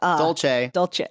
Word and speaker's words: dolce: Dolce. Classic. It's a running joke on the show that I never have anything else other than this one. Maybe we should ask people if you pronounce it cinnamon dulce.